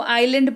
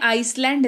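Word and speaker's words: island: आइलैंड ठीक है देखिए इसकी स्पेलिंग देख लीजिए आई एस एल ए एन डी लेकिन इसको आइलैंड पढ़ते हैं आइसलैंड नहीं पढ़ते हैं ठीक है पैर यानी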